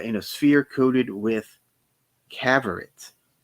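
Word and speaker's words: Cavorite: a sphere coated with caverits spelled like favorite but with a c it's a substance which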